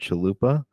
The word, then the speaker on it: Chalupa: on okay awesome awesome mine's easy it's like Taco Bell I totally wasn't thinking